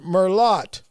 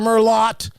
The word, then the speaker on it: Merlot: She was like, I would like a glass of Merlot. I'm like, what the hell is Merlot? Does she pronounce the L in salmon? I'm like, the T ain't talking.